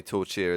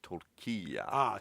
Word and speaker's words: tortilla: I used to say tortilla as well. It is spelled that way, but it's actually pronounced torquilla.